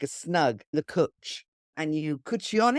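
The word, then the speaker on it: cwtch: what that word is and how do you pronounce it that word is cooch so you have a cooch so a cooch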